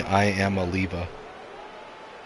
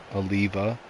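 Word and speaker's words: Iamaleava: I mean, it is funny though that he's pulling all this, and if you like separate out the syllables in his last name, it's literally I am Aliva. Aliva, like a lever, but Aliva.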